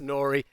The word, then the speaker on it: N.O.R.E.: and the Queensborn rapper Nori. That's N O R E pronounced Nori.